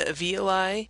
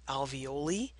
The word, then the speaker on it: alveoli: Just as a sidebar, some people call them alveoli. Either pronunciation is totally fine. And if someone gives you a funny look, you just say, oh, I'm using the British pronunciation.